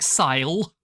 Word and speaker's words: syle: It's spelt S-Y-L-E. Like it does not look like sell. It looks like sile.